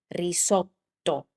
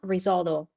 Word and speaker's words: risotto: This is risotto. Risotto. So, try It's not risoldo or risoto, risoto. It's I'm try to keep the t a little bit longer.